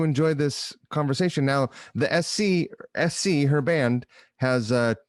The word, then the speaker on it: Ess See: My guest, Sarah Carbonetti, the singer, songwriter, and creative energy behind Ess See, which is ESSSEE, like the letters spelled out phonetically.